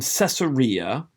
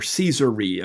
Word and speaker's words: Caesarea: we have paul's journey from caesarea or caesarea or kaiseria those are different ways people pronounce the name of that city to rome he's